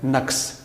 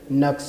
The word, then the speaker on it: نقص: پہلا لفظ بولا ہے اس کی درست صورت ہے نقص، یہ زبر کے ساتھ ہے، پیش کے ساتھ اس کو ادا کرنا غلط ہے۔ یعنی کہ ہم موسٹلی جو بولتے ہیں وہ نقص ہے، جبکہ اس کا اصل